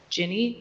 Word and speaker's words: Gini: income inequality is based on me I may pronounce this wrong Gini coefficient yes yes that's correct using the I